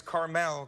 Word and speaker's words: Carmel: of this restaurant is carmel cafe and wine bar it's not the little candy at all it's like the place in california terry ryan am i correct yes sir okay carmel cafe and wine bar